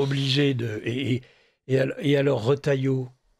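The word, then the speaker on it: Retailleau: étant obligé de et et alors retaillot que vous prononcez retailleux c'est presque çaen est charmant un jour on aura le président retailleux donc à chaque fois je dirai non pas retailleux retaillo c'est pas grave oh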